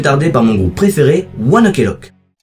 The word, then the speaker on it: ONE OK ROCK: par mon groupe préféré, Oneelock. Oneelok est un groupe de rock japonais créé en 2005 par quatre adolescents. Le nom du groupe provient de la prononciation japonaise de One Olock qui se prononce oneock qui était l'heure à